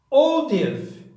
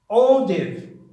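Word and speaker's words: hors d'oeuvre: And then we have audive. Audive. It's completely different from its spelling.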